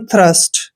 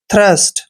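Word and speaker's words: thirst: दोस्तों टी के बाद एच आया है, इसलिए हमने टी का उच्चारण थ करना है। इसको पढ़ेंगे हम थ्रस्ट। क्या पढ़ते हैं, थ्रस्ट।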